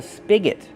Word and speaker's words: spigot: Use a short sound like this. Is spig. Spigot. And the next syllable is not stressed. So it's awah.